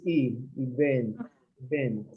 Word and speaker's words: event: Okay, This word, most of you make, it's not event, or event, depending, but it's the stress in this E, event.